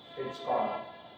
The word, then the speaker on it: Hitchcock: जो मन के वो प्रोनाउंसिएशन हिचकुआ नहीं ऐसा मत कहना सामने वाला नंबर काट लेगा तुम्हारा हाँ हिचकॉक अपने यहाँ ये नाम